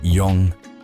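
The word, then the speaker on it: よん: Eles podem simplesmente pular a numeração dos andares ou quartos, ou então usar a outra pronúncia de 4, que é yon, para diminuir a conotação negativa.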